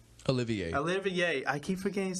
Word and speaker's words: Olivier: I think that's how you're saying it, Oliver. Olivier.